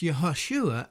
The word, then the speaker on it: Yehoshua: Joshua, son of Nun, was also called Hoshea and Jeshua, though in Hebrew Joshua and Jeshua would be pronounced Yehoshua and Yeshua respectively. When we look at other languages, we find similar occurrences.